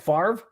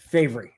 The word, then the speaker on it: Favre: Favre especially when when you can't even pronounce your name the way it spelled f a v is favoring not Favre say it correctly Brett my gosh anybody can't pronounce their last name correctly it's got issues uh it's Brett favory and anyways uh and